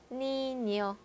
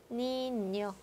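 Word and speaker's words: niño: 니뇨, 니뇨, 에스파냐, 에스파냐. 그래서 얘는 아이유를 만났을 때 냐냐 니뇨뇨 가 되는 발음이죠.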